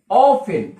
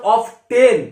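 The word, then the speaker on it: often: এইটা লিখবো HOW, হাউ অফেন। হাউ অফেন, অফেন এর উচ্চারণ অফ টেন এটা কিন্তু নয়, টিটা সাইলেন্ট লেটার অর্থাৎ অফেন।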